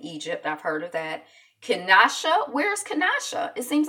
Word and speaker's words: Kinshasa: Kinshasa, it's spelled Kinshasa, but it's pronounced Kinshasa.